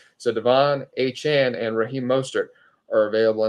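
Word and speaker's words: Achane: are Devon a Chan I'm sorry correct myself uh we had a corrective from uh Han himself who said it that's what he prefers the pronunciation of it so Devon a Chan and Raheem mostert are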